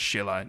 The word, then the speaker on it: Silla: of the Kingdom name which are now pronounced as Sheila in modern Korean and this leads us